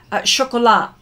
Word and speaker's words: chocolat: Chocolat. Oh, don't pronounce the T.